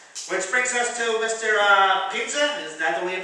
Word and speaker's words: Pinza: Pinza. Is that the way you pronounce it? That is right. It's your Pinza. How's that again? Ezio. E-Z-I-O. Ezio. Pinza.